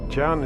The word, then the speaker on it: John: boys went to school jan is how you pronounce john in devonshire darling in fact his